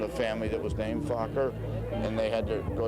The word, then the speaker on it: Fokker: family that there are a few families called Fokker, which was the Dutch. There's a Dutch. You've heard this? It's spelled F-O-K-K-E-R, Fokker.